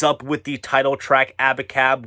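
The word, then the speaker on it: Abacab: with the title track abbot cab which when you spell it out a b a c a b it's supposed to be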